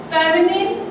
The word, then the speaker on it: feminine: pronounce normally nine, but feminine, femi add है उसमें तो इसका pronunciation हमारा क्या होगा? Feminine gender, not nine, feminine gender.